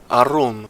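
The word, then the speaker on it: ערום: Se pronuncia Arum.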